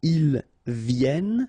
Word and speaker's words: viennent: And then ils viennent.